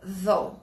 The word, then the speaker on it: though: Então, como que a gente pode traduzir essa palavra though? Lembrando que começa com TH, é um TH vozeado, o som é feito aqui, a língua tem que aparecer para produzir o som inicial correto.